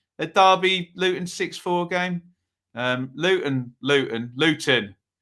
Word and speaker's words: Luton: Luton. Pronounce my T's. I get mocked for this, don't I?